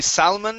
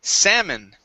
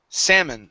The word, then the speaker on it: salmon: here the uh l this l is silent we don't say salmon it's salmon salmon try that okay there